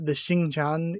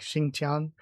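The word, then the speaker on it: Xingtian: The Xingqian is, at least I think that's how that should be pronounced. Shouldn't the X be a sh sound effect and the TI like Xingqian?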